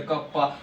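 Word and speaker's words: κ: तो यहाँ पे उसे प्रोनाउंस क्या किया जाएगा सर, कप्पा, that is conductivity का यूनिट क्या है सर, ohm inverse metre inverse sir, Simon metre inverse भी लिख सकते हो।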